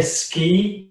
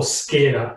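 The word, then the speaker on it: skyr: through, just to clarify, did you say ski yogurt or skier yogurt? Skier yogurt, yeah. I believe it's S-K-Y-E-R. I think that's how it's spelled. Something in the like yeah. So not ski, the fruity one.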